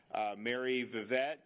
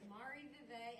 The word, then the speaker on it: Marie Vivette: Donalds, and then we've got Mary Vivette, co-owner of Blue Rendezvous French Bistro. Did I say it right? It's Marie Vivette and Blue Rendezvous.